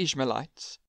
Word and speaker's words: Ishmaelites: sell him to the ishmaelites and for those who are curious no i did not mispronounce israelites this is another group with a very similar name then after selling him